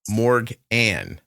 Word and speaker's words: Morganne: Anne on the end of Morgan. Morganne. Mm-hmm. That's the English way to say it, I suppose.